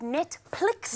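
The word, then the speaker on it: Netphlix: So my new show is called Netplix. Netplix. With a PH, but the H is silent.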